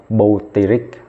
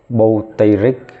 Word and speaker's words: butyric: Vẫn là bu, nhớ là không được đọc butan nha. Đọc là buti. Tên thường mà, butyric.